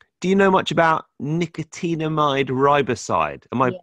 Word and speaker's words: nicotinamide riboside: He's into, do you know much about nicotinamide riboside? Am I pronouncing that right?